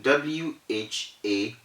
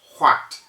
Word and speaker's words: what: of only the w the h goes completely silent this is a rule so in w-h-a-t we do not say what the correct pronunciation is